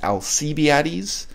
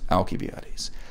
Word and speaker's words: Alcibiades: Now, the standard English pronunciation is Alcibiades. I'm going to choose to be slightly more Greek in my pronunciation. I know this is not remotely the way modern Greeks pronounce it, and I'm going to refer to him as Alcibiades.